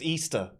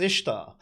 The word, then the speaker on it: Ishtar: and you know the people saying oh it's pronounced easter no it's not it's pronounced ishtar yeah uh it's like right